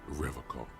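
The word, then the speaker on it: Revachol: He pronounces Revocol with a hard K, unlike serious question time.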